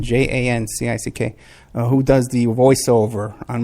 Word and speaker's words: Jancic: And you know, it's James Arthur Jancic, I think you pronounce it, Jancick, who does the voiceover on my, Socialist International there, you know?